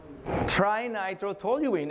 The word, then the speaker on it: trinitrotoluene: TNT, Mr. Trinitrotoluene. And you actually pronounce it correctly, sir.